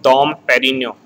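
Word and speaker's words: Dom Pérignon: Now here this first term is very important and here again the G word is silent. It is called Dom Perignon.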